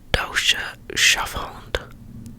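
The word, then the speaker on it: Deutscher Schäferhund: reading the german shepherd the dosha shuffled that's the german pronunciation is a breed of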